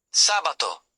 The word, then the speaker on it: sabato: Some words have stress on the third-to-last syllable. Examples: telefono, t e l e f o n o, telephone sabato, s a b i a t o, Saturday Tre, final syllable stress.